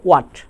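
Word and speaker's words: what: তাহলে এক্ষেত্রে আমরা বলবো হোয়াট না বলবো ওয়াট, হোয়েন না বলবো ওয়েন, হোয়ার না বলে বলবো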